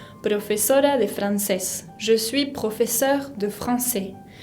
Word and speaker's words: professeur: Je suis professeur de français. La R final de professeur se pronuncia como en la garganta, professeur de français.